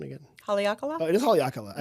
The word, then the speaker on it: Haleakala: Oh, it is Haleakala. I pronounced it correctly?